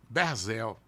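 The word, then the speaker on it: ברזל: Berzel.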